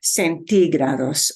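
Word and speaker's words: centígrados: able to see that it has an accent mark But centigrados punches a syllable you don't expect centigrados okay see uh Bueno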